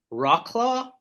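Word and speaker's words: Wrocław: slug and they are from I want to pronounce it correctly Rock claw Poland w-r-o-c-l-a-w um and the the of all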